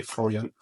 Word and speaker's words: Florian: Flor Flor Flor I mean everyone call me floran so okay Flor I'm good with this I'll